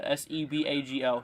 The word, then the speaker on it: Sebago: was reported in sebago i think it's how you pronounce it s-e-b-a-g-o sebago i think i say